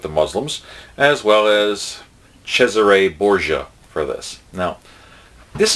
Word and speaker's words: Cesare: And some Americans say Cesar, but the actual Italian pronunciation is Cesare, so I'm trying to get it right.